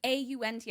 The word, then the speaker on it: aunt: Not, if it was A-U-N-T, I would have said aunt. I would have pronounced it correctly.